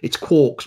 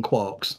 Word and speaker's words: quark: Just like it's quarks rather than quarks as well. Yeah. Murray Gell-Mann said it's quarks, so if that's what Murray Gell-Mann, who invented the term, wanted, that's fine.